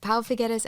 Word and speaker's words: Pau Figueres: me their names because they seem like I mispronounced them. Yes, Pau Figueres and Arnau Figueres.